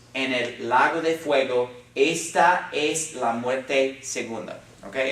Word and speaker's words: esta: ta yes this okay and how is it pronounced not esta the ASA because remember the vowels always make the sounds aw ay e o always so this is bouncing esta it has how many syllables